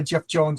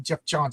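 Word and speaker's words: Geoff Johns: Yeah, those are relatively new powers added by Jeff Jones, I believe. Jeff Johns. I always say the name wrong.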